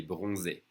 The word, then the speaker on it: bronzé: Remember, when you see the accent on the E, it means you have to pronounce it E. So, il est bronzé.